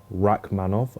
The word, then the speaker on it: Rakhmonov: We've got Neal versus Rakhmonov. I did pronounce that correctly.